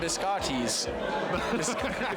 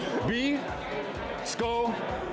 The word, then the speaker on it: biscochito: Biscottis. Right? Is that how you say it? Biscochito. Biscochito. Biscochito. Biscochito. Biscochito. There you go.